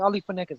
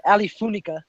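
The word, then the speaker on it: Funeka: First of all, he was mispronouncing Ali Funeca's name, calling him like Ali Funica, and then he was saying like, "I never heard of these guys."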